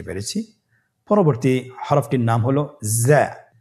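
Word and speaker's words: ز: উচ্চারণ করার সময় অবশ্যই একালিফ টেনে পড়তে হবে, একালিফ টেনে পড়তে হবে। হরফটি বারিক হরফ, এই জন্যে পাতলা করে উচ্চারণ করতে হবে। যা হরফটির মাখরাজ আপনারা দেখতে পাচ্ছেন, জিহ্বার আগা সামনের নিচের 2 দাঁতের পেট ও আগার সঙ্গে লাগিয়ে উচ্চারিত হয়।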